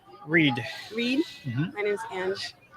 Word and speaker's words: Ang: My name's Ange. Ange? How do you spell that?